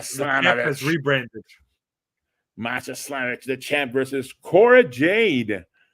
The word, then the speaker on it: Masha Slamovich: Masha Slamovich. That's how what is the guy, the announcer for TNA says it, by the way.